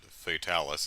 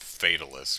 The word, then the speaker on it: Fatalis: black dragon fatalis and luckily the in-game characters pronounce it fatalis not fatalists or something weird because when um